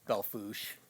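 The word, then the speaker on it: Belle Fourche: We only in South Dakota do you know truly how to pronounce French words like pier and Belfouche and Flandreau and all these other wonderful pronunciations of Oh, I forgot about Flandreau.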